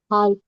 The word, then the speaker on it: half: Half. Half. L is silent.